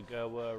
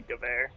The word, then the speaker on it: Gewehr: Yeah, the English pronunciation of it would just be Gewehr, but oh, I the found German it in World at War, and I was just like Gerwer rifle. Yeah, the German pronunciation would be Gewehr.